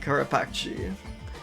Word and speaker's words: carapace: But there's no way this word is pronounced carapace. I guess really, I really think it should be pronounced carapace. You know, like I see this and I only hear in my head carapace. But sure, yeah, it is just carapace. Just much sadder.